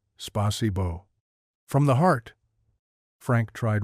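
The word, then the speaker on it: спасибо: Spasibbo, Frank attempted, his face serious with concentration. A slight smirk started to form, but he caught himself remembering Pearl's sharp look from Monday morning. Alexe gently corrected his pronunciation. Try again, Spasibo.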